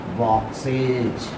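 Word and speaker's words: boxes: उसी तरह बॉक्स अगर दिखाते हैं, बी ओ एक्स बॉक्स, इसमें ई एस लगाया जाता है तो इसको हम क्या पढ़ेंगे, बॉक्सेज, यहाँ ज उच्चारण होता है, ठीक है।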